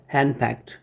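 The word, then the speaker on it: henpecked: हैंड पैक्ट क्या होता है, इसका उच्चारण है हैंड पैक्ट, ये टी साउंड आता है लास्ट में।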